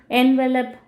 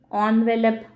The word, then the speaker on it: envelope: என்வெலப், ஆன்வெலப், இந்த மாதிரி நம்ம வேர்ட்ஸ் எல்லாம் இருக்கு இல்லையா. ஸோ அதை வந்து நம்ம எப்படி ப்ரொனவுன்ஸ் பண்ணுறோம் அப்படிங்கிறது ஒய், ஏன் அதை நம்ம எழுதுகிறப்ப ENVELOPE அப்படின்னு எழுதுகிறோம், ப்ரொனவுன்ஸ் பண்ணுறப்போ ஆன்வெலப் அப்படின்னு பண்ணுறோம், இந்த டவுட் நமக்கு வரும்.